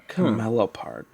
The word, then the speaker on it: camelopard: Camelopard. Camelopard. Camelopard? Camelopard. Camelopard. Is it CHAMELOPARD? No, but you're close. What is it? It is CAMELOPARD. Camelopard.